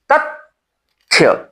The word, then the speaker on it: तथ्य: लेकिन उच्चारण इसका होता है या इसका होता है? त थ्य तथ्य तथ्य तथ्य थ्य से पहले तत त के बाद त और फिर थ्य तथ्य ठीक है ये महाप्राण व्यंजन है।